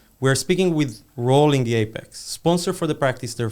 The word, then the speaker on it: APX: It's spelled APX Platform. But the nice way to say it is Apex.